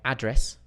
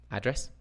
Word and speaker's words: address: well this one uh my address address dumd address or I'm going to address address everybody I'm going to address